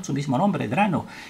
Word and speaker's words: Drano: n su mismo nombre drano y en inglés la pronunciación es draino y eso a nosotros